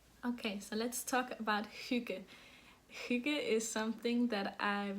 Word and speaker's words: hygge: It's pronounced hygge, so it's I don't think there's the Y sound in English, at least not this way. It's a U.